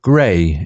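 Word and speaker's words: Grey: inquired while pouring the earl gray pronounced gray into his cup indeed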